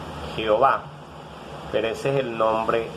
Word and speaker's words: Jehová: Y es cuando los hombres empiezan a invocar el nombre de Jehová, que es el nombre en hebreo Yahvé, y después le colocan pues las vocales ahí para que se pronuncie Jehová.